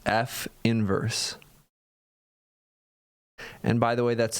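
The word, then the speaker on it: f⁻¹: and we call that inverse F inverse this pronounced F inverse and by the way that's not a negative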